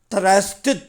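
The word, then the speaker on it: thrust: அடுத்தது பாருங்கள், 18 last word பாருங்கள், த்ரஸ்ட்டு த்ரஸ்ட்டு த்ரஸ்ட்டு. இது உச்சரிப்பு கொஞ்சம் கடினம். பாருங்கள், TH இத்து, எப்பவுமே இத்து அழுத்தி சொல்லணும். இந்த வார்த்தையில் அழுத்தினோம். த்து அப்புறம் ரஸ்ட்டு, த்ரஸ்ட்டு.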